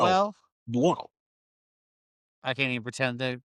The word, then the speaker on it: Buono: Okay, Not Bruno. well, Buono. I can't even pretend to pronounce that name.